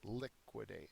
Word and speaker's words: liquidate: that's not possible um it's actually the first liquidate so it's the first syllable that is accented um the definition is